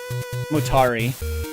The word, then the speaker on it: Motari: I'm butchering it motari it's like Atari but with more MO kig with an M